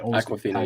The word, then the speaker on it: Awkwafina: I can never pronounce her name. Awkwafina. Is it Aquafina? Aquafina, yeah.